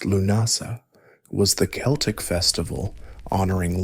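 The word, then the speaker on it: Lughnasadh: Lugnasad, pronounced Lunasa, was the Celtic festival honoring lug, god of light, crafts, and war.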